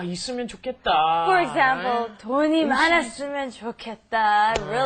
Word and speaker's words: 좋겠다: It's pronounced differently than how it's spelled. It's the pronunciation is 좋겠다. 좋겠다. Try that. 좋겠다.